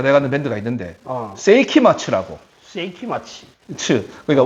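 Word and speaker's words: 聖飢魔II: 다 돼가는 밴드가 있는데 세이키마츠라고. 세이키마치. 그러니까 원래는 세이키마인데 뒤에 이제 투가 붙었어. 그 투를 일본 애들 가타카나 발음으로 츠라 하거든요. 그래서 세이키마 츠라 하거든요.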